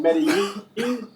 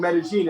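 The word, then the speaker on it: Medellín: In Colombia, it's pronounced double L's as a J. So whereas in Spain or Mexico, it might be called Medellin, here it's called Medellin, and it's the most charming expo in the world.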